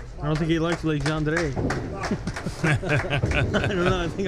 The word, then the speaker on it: Legendre: I might have to go with the French, Legendre. Legendre.